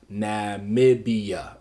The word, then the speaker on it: Namibia: It's 4 syllables, and this is how we're going to do it. Namibia.